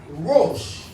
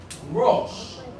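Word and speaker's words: ראש: And so this word is actually pronounced Rosh. Rosh. So this is how you spell Rosh. Resh, Aleph, Shin.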